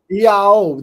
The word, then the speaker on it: Iao: Iao, that's how they pronounce it.